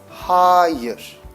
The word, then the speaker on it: hayır: And no would be higher. It's almost like the superlative of high. High, higher. But there will be more emphasis on the A. So it's HAH-yuhr.